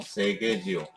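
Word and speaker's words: Seghesio: 세게지오. GHE 마찬가지로 개 발음이 나는 겁니다. 그죠? 세게지오.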